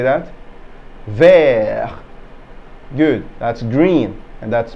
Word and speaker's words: vert: can we say that ver good that's green and that's masculine good that's green and that's feminine so in the masculine the t is silent in the feminine we